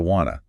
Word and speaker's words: wanna: And want to reducing to wanna.